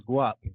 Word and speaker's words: Guap: Yeah, it's Guap, like Guap. Like yep. Guap, like Guap, money, like the not like Guap. Yeah, like the money.